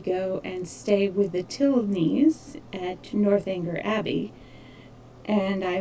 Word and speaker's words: Tilney: the past several years been saying Tilney's name wrong. I had been calling them Tinley because I personally know a Tinley, but I was incorrect. So it's Tilney.